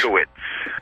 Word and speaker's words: Dutkiewicz: It's Polish. Dutkiewicz.